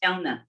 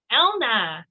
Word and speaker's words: Helna: name uh is pronounced elna elna yes h is silent that's fine silent everybody